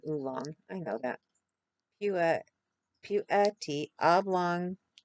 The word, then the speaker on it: oolong: Not oblong, oolong.